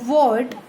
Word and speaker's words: Twort: Ward and named by Flix of Harrile, ठीक है। सबसे पहले किसने डिस्कवर किया था इसको? F.W. Ward। ये क्या है? TWORT, ठीक है। तो T इसमें साइलेंट है, ठीक है।